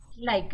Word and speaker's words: like: Y Like it. like. ¿Sí? Pero fíjense que en ningún caso, por más que la veamos a la E, no la pronunciamos.